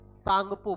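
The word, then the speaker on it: Tsangpo: तो सांगपो आपको याद रखना है कि इसको क्या बोलेंगे? सांगपो बोलेंगे।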